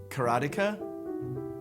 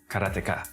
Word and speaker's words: Karateka: I think when I was a kid, I always said Karateka, because it's like you say karate and you just add the ka.